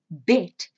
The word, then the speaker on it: bed: Now remember, that D at the end of the word is pronounced like a T. And so the word bet sounds exactly like the English word bet, as in take a bet or gamble.